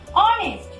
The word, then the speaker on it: honest: This is honest. Here, H is silent letter and O is first speak letter.